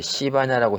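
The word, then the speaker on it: 西班牙: 네 그런 것처럼 그 황당한데 스페인을 그 자기네 나라 말로 이제 그 음역을 따오는 과정에서 이제 시바냐라고 했거든요.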